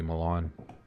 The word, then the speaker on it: Milan: I say Mylan because I'm in Michigan, and Mylan, there's a city called Mylan here that is spelled Milan. But apparently it was a German people came by and they just started mispronouncing it. It's supposed to be Milan.